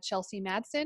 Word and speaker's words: Chelsey Madsen: I have with me Chelsey Madsen. She is a senior tech recruiter over at Netlify. Did I pronounce that right?